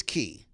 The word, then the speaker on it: Cay: why is it pronounce key and not K because key is the correct pronunciation of the word that I will there's